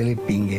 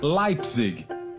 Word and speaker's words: Leipzig: Para a professora Simone, todo mundo pronunciava de forma errada o sobrenome de Adolfo. O correto seria Leipzig.